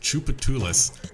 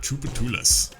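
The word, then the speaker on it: Tchoupitoulas: four teenagers had come in to try the Troopa tooless sundae challenge that's how you pronounce that by the way just in case you're wondering the troupe of tunas and this is at the Creole Creamery and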